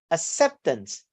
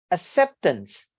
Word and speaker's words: acceptance: Syllable study with the here, acceptance, acceptance.